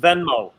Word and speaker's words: Venmo: beginning both of you are right that it's pronounced venmo both of you were right about that all